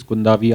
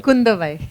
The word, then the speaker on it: Kundavai: So obviously you're playing Princess Kundavi. I hope I got the pronunciation right. Kundavai.